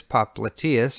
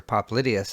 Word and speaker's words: popliteus: There's popliteus, or popliteus as some people pronounce it.